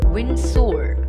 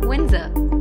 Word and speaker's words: Windsor: often incorrectly pronounced as wind sword please remember the D here is silent and SOR will be pronounced as urn sir so the correct pronunciation of the word is Windsor recliner is a chair